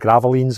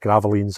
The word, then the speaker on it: Gravelines: in a place called Gravelines, I think is how you pronounce it. Gravelines is how it spells, but Gravelines, I believe, is how you say it.